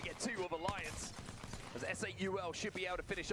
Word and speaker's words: S8UL: It's S8UL. You just say the four words, numbers. Just call it S8UL. They've been saying Soul. They shouldn't be, because Soul, S8UL is the combined esports teams of Soul and 8-Bit.